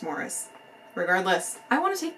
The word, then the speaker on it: Maurice: this past month, and that is Maurice by Ian Forster, even though it's supposed to be pronounced Morris.